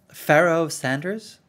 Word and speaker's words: Pharoah Sanders: Have you ever heard of Pharoah Sanders? Is that how you pronounce his name? Pharoah Sanders, yeah, fantastic.